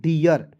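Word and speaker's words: dear: तो क्या हो जाएगा दोस्तों डियर D double E आर डियर पढ़ा जाएगा ठीक है डीर नहीं पढ़ा जाएगा क्लियर उसके बाद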